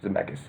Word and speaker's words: Zemeckis: I mean, the director, and corrected me, MacLean, you might know on the pronunciation of his last name. Robert Zemeckis. Zemeckis.